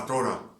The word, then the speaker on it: Torah: Il faut dire la Torah. La Torah. Dès qu'on prononce le R en français, le R du français, bonjour, ça ne se marque pas en espagnol.